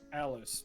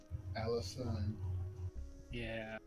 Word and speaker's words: Alison: sorry i will remember i was gonna say alice but it's not alice alison all right um all